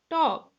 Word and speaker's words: talk: Walk, talk, buck, sidewalk, stalk, moonwalk, cock. Look children here, A-L-K. L is there, but L is silent.